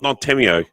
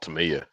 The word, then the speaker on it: Tamiya: Is it Yeah. Tamiya? Is that what it's called? Not Tamio. I don't know how you say it. I call it Tamiya.